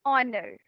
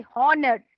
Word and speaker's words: honor: to be there and honored EDA I did not say Horner I said honor it's an honor to